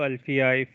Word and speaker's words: Alfie: you for the sessions thank you alfie if that is your name and if i have pronounced it correctly thank you for your